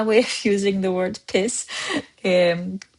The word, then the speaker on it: PİS: It's just piss one syllable.